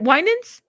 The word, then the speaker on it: Winans: Say nins at the end. Is it Winans? Winans? Let me stop saying it. Winans. Let me stop. Y'all go eat me up. Anyways. Thank you. Nans. Did I say it right? Winans? Oh my God. I said it right?